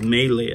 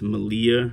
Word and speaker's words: Maileah: was called the malia i thought it was melee at first but apparently it's malia or something like that dedicated after her friend